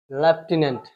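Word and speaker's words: lieutenant: ना it's pronunciation is it's pronunciation is लेफ्टिनेंट what लेफ्टिनेंट है ना इसको है ना हम लोग लेफ्टिनेंट प्रोनाउंस करते हैं हम तो इसमें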